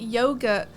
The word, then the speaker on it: yogurt: named after yoga because in the US we pronounce it yogurt yeah yeah we call it yogurt over here so that is